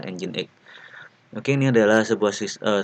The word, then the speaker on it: nginx: ini adalah engine.exe nginek ini ya bacanya engine.exe kalau kita baca secara kontekstual seperti ini ingin begitu bunyinya tapi ini bacanya adalah engine.exe oke Ini adalah sebuah